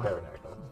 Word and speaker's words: pterodactyl: Spelled with a P, not a T. There you go. Pterodactyl.